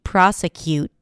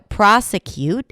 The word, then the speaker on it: prosecute: But I don't like those confusions, especially since, native speakers of English may pronounce it with a T or may pronounce it without the T, with a held T.